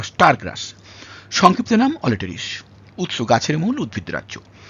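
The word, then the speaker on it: Aletris: ই আর আই এস ইংরেজিতে বাংলায় আমি করেছি অলিটারিস কোন কোন জায়গায় অল্টারিস বা অলট্রিস এরকম ভাবে বলা আছে মনে রাখবেন ব্যাপারটা একই উচ্চারণ ইংরেজির উচ্চারণ বাংলায় করতে গেলে একটু অল্টার করে যেতেই পারে আমরা ধরে ধরে যেটা করেছি এটা হচ্ছে অলিটারিস অলেস এটাকে কোন জায়গায়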